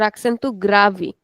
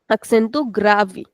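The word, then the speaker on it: acento grave: So remember if we have an e at the end of the word then in European Portuguese we don't pronounce it at the end. we just say grav accent to grav. Whereas in Brazilian we give a little extension and we say accentu gravi accentu gravi.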